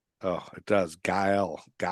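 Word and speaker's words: Gael: Gal Gal, it's Spanish.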